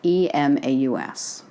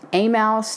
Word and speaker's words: Emmaus: the spelling with 1M e-m-a-u-s it's been pronounced a mouse to Emos to emaus but in